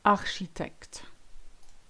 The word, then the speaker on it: architecte: CH always makes the sound sh. Chercher, marcher, and my favorite, architecte.